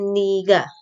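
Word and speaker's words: 네가: Nah, lalu yang kedua ada niga, ini tulisannya nega tapi bacanya niga.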